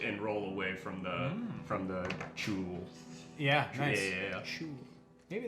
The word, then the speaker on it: chuul: slash his throat and roll away from the chul. Yeah, nice. Yeah. Shoo. Maybe that is how it's pronounced. Oh, is it like CHUL? It is CHUUL.